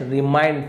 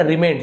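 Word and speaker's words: remained: द ट्रेज़ chest रिमाइंड full. और खजाने की जो पेटी थी, संदूक थी, है ना? रिमेंड सॉरी रिमें रिमाइंड बोल दिया था।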